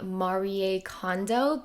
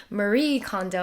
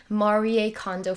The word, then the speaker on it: Marie Kondo: I think that's the Japanese pronunciation. She introduces herself as Marie, and now that there's a Netflix show, all the Americans call her Marie Kondo, and it's just weird